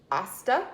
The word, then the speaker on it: hasta: because vodka each cada until hasta that's a silent h before on this after